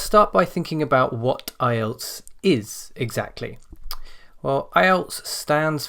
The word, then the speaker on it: IELTS: together to create ielts notice it is not islets and never has been eyelets so don't pronounce it like that or write it like